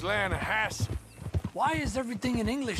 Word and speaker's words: Lannahechee: trout you mean the lanahashi river no no no no no the the lana hatchy it runs right near here yeah but it's pronounced land hass why is everything in